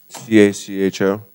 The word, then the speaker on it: Cacho: ashton is it kacho how do you pronounce your name sir c-a-c-h-o how do you say it though uh cacho